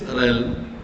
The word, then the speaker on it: realm: So this realm, you don't need to pronounce the A.